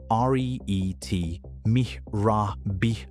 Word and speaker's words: rete mirabile: At the base of the brain, the giraffe has a dense mesh of small blood vessels called the rete mirabile, pronounced R-E-E-T mirabile, which translates roughly to wonderful net.